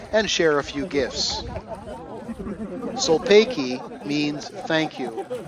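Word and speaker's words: Sulpayki: Solpeki means thank you. It's pronounced Solpeki.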